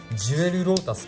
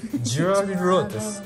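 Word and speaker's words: Jewel Lotus: ジュエルロータスって読むのかな、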